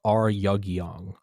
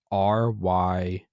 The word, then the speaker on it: Ryugyong: But the tower is called the Ryugyong. Ryugyong.